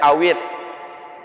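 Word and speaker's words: اطرحوه: It dibacanya awit.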